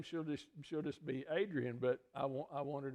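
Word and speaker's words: Adrienne: yeah her name is adrian it's a-d-r-i-e-n-n-e they pronounce it adrian and the middle name kind of unusual here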